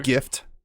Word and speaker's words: GIF: Just to clarify, it's GIF, right? You guys say GIF. Yeah, you it's don't say GIF. Yeah, GIF. Yeah, Yeah. it's GIF. Okay. Yeah, Jif is the peanut butter spelt with a J.